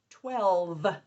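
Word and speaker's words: twelve: And the last one is 12. 12. T. W. L. V. And that is silent final E, job 4.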